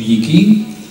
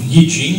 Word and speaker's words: Yi Jing: Donc la première manifestation du Li Qing, ou Li Jing, ça dépend comment on le prononce, la première manifestation est une manifestation, on va dire, divinatoire.